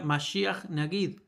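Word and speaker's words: מָשִׁיחַ נָגִיד: Segundo punto, en hebreo, Mesías Príncipe, a ver, en hebreo, sí, Mesías Príncipe se pronuncia masia nagid, lo cual hace referencia al primero y al último como uno solo.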